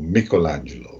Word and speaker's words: Michelangelo: which was a long biography of Michelangelo, or Michelangelo, if you prefer the Italian pronunciation, who is, as I